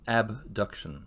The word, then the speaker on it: abduction: from the midline is abduction we often actually say a b duction because actually abduction and adduction sound pretty similar similar phonetically so a b duction